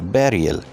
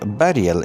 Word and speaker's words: burial: B-U-R-I-A-L, burial. In the same way, this word should not be pronounced burial, it is a burial.